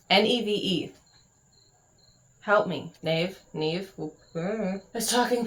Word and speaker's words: Neve: I've been saying Nave in my head, and that's wrong. Neve.